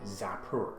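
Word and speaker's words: Xapur: towards an island called Zapur. Now, I think I'm pronouncing that correctly. It's X-A-P-U-R.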